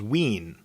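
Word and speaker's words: wiin: In Anishinaabe, the third person singular pronoun is ween, with a long E sound.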